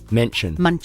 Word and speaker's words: München: Munchen. München. München. It's got an umlaut on the U.